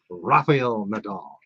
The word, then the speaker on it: Rafael Nadal: want you to roll your R's, Jason. Rafael Nadal.